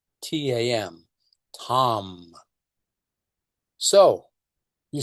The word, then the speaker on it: Tam: Her seed syllable is Tam, T-A-M, Tam.